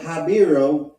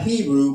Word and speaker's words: Habiru: mention of the Hebrew, or they will say Habiru, pronounced spelled Habiru, right? This is what the other civilizations would call their name, Habiru, not Hebrew, but Habiru, right?